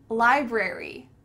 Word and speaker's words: library: Library, library, library, I'm going to the library. Make sure that you sound each of those syllables out, library, library. Often, often, both of these are correct and it's just a personal preference.